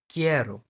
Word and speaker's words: quiero: सो जब भी क्यू दिखे इसके बाद ये दो दो लेटर इसके साथ जुड़ेंगे जुड़ेंगे, तो इसका प्रोनाउंसिएशन की एंड के होगा, like querido, querido, querido, quiero, quiero, quitar, quitar, क साउंड, ओके, क साउंड।